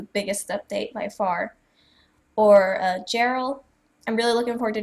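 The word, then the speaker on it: Gerel: So his name is spelled G-E-R-E-L, Gerald. The G is pronounced as a J. Gerald.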